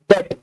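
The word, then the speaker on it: debt: यहां पे लाइबिलिटी से हमारा क्या मतलब है, डेट, बी साइलेंट होता है जी।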